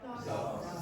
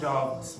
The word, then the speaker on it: dogs: And then if it's voiced, if you have something like g, so g is voiced, how do you pronounce that? Dogs. Dogs with the voicing. Okay, so this one is like a s sound, this one is a z sound.